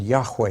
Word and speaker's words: Yahweh: letters of God's name that's pronounced Jehovah in English and Yahweh in Hebrew now to help you